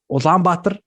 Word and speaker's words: Ulaanbaatar: It's pronounced Ulaanbaatar. So you got one wrong, Chino.